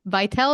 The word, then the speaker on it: Vytal: inspirational today you're doing some wonderful work with vital is that how you say it yeah it